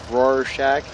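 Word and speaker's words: Rorschach: to be completely pointless Roar Shack like Roar and Shack thanks well I'm not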